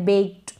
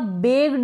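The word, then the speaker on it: baked: हैं जैसे ये है बेक्ड क्या है अब इसको आप बैग्ड ना पढ़े बगड नहीं ये जो के आ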